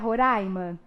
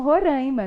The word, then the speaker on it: Roraima: o que acontece com a palavra roraima que já viram que na televisão é os jornalistas costumam pronunciar koraimann e aqui em minas a gente costuma se referir em estados como roraima não é é justamente uma variação que de pronúncia sotaque simplesmente né então isso acaba